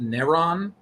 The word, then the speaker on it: Neron: It's pronounced Neron in the DC universe.